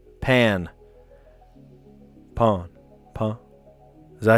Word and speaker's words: pain: Pronounced not like the English word pain, like hurt. It's more like the English word pan. Pan.